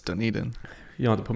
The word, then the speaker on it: Dunedin: Amelia or some well you also said it was Dunedin for how long when it's done eating you don't have to